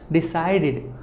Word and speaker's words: decided: Decided. After decide, if you have the, it will be id sound, not ed.